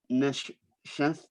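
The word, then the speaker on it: נשף: And how do we know that this neshef, am I pronouncing that correctly?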